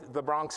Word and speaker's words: the Bronx: you how to say the Bronx correctly. Say duh, like duh, Bronx, Bronx, the Bronx. Say it loud, the Bronx. That's how you say the Bronx.